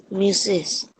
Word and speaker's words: Mrs.: MRS is pronounced what, beta? Mister Mrs. MRS is Mrs. मिसेस Yes, MRS is what?